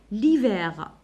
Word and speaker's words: hiver: l'hiver. donc هذا كيكون عندي اش موي نديرو الحرف نديرو apostrophe ما نديروش لو hiver, ça se dit pas l'hiver, voilà parce que الاش هنا لا ينطق نديرو apostrophe.